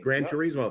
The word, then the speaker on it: Gran Turismo: The video game Gran Turismo, I don't know if I'm saying it that, Gran Turismo, is that correct? No, you're saying it right, the racing game. Gran Turismo.